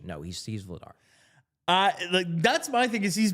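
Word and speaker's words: Vladař: But apparently that little upside down arrow over the R is supposed to be SH, because I just looked it up on Elite Prospects, and the pronunciation is in fact Daniel Vladash.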